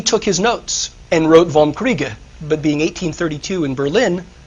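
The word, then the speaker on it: Vom Kriege: 1832 called on war or in German it's vom kreega karl was the chief of the Prussian General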